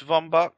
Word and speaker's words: Von Bach: It's spelled it's pronounced Von Bach, ain't it?